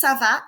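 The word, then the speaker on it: ça va: called a sedilla and the hook changes the sound of the C from a hard C Sound to a soft s sound let's hear the pronunciation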